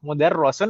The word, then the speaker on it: mudarrisun: Mudarrisun atau mudarrisun? Mudarrisun. Mudarrisun. Ini kasrah ya, bukan fathah. Iya, di bawah tasdid.